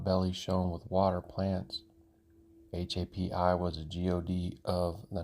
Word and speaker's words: Hapi: The first one that we're going to look at here, HAPI. If you look at this, you'll understand that pronouncing this is the same as HAPPY.